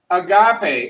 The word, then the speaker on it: agape: is to a certain expression here and it's agape a G a P E and we're gonna put the apostrophe there because it's pronounced ah got a got a an agape is a special kind of love it can